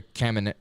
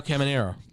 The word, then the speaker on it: Caminero: Jr., and then Junior Caminario. Caminario, yeah. That's why I thought it was just the way how it's spelled is weird. No, Caminero.